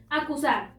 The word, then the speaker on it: acusar: Acusar. Acusar. Encontramos la sílaba tónica en sar, es decir, la última sílaba, pero no termina en n, s o vocal, por lo tanto, no se acentúa. Natural.